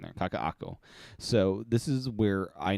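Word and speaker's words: Kakaʻako: uh this first screen here is of Kakak kakaako is the pronunciation there kakaako so this is where I now live this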